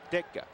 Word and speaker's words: Ditka: Ditka.